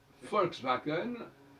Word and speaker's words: Volkswagen: Volkswagen, on dit, ça s'écrit bien avec un V.